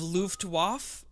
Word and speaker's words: Luftwaffe: learn it aces of luftwaffe loved wofe sure squadron how would you say how do you say it it's el Luftwaffe Lu ft WAFF e aces of leuf loved